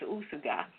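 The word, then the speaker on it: Úsuga: I guess it's Usuga with the accent on the first U.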